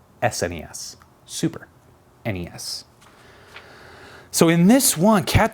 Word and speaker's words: SNES: them the Nintendo Entertainment System NES it's not pronounced Ness its NES and it's certainly not snez SNES Super NES so in this one cat this is a